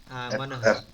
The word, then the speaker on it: Manohar: Manohar.